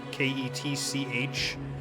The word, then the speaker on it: Ketchikan: It's called Ketchikan, spelled like ketchup, Ketchikan.